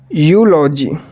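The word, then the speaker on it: eulogy: होगा क्या होगा यू कब होगा जब ई के साथ यू आएगा ई के साथ यू आएगा तो उसका उच्चारण यू होगा जैसे फर्स्ट हमारा क्या है इसे पढ़ेंगे यू लॉ जीी क्या पढ़ेंगे यूलॉजी यूलॉजी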